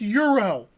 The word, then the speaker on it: gyro: Spelled gyro, but it's pronounced Euro.